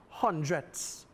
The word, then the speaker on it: hundredths: And we have a hundredths value with, again, a T, an H, and an S at the end. Emphasize as you pronounce it, hundredths.